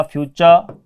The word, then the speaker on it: future: और इसमें च का उच्चारण क्यों हुआ, ये जो टी आया इसके बाद में देखिए वोवल, इसको लेकर के ऐसी स्थिति में ट का उच्चारण च, और इसको लेकर के मैंने आपको पहले भी बता दिया है।